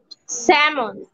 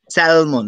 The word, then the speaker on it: salmon: স্যামন। উচ্চারণটা কি হবে? স্যামন, right? উচ্চারণটা কি হবে? স্যামন। আমরা স্ক্রিনে দেখতে পাচ্ছি, নট স্যালমন, নট স্যালমন, উচ্চারণটা কি স্যালমন হবে না, উচ্চারণ হবে কি হবে? স্যামন, স্যামন, right?